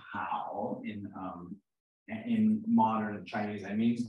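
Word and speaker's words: 好: This is pronounced hao in modern Chinese.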